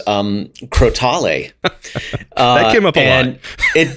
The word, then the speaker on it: crotale: there um who uh confirmed that it is pronounced crotale um that is the pronunciation now we know